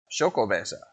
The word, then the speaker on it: Xocoveza: say the name too it says say s-h-o-c-o-v-a-y um yep shoko-basa all right let's go